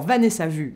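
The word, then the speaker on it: Vanessa Wu: Alors, Vanessa Vu, ça s'écrit W U mais ça se prononce vue.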